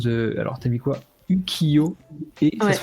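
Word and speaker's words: 浮世絵: Ukiyo et ça se prononce Ukiyo.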